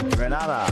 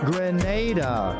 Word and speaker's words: Grenada: So, today, like we German say, we are in Granada. But I heard in English it's called Grenada. Say it right. Grenada.